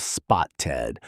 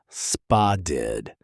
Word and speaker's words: spotted: That double T in the middle doesn't sound like a hard T. It softens into something closer to a D sound. So instead of spoted, Americans say something closer to spa did.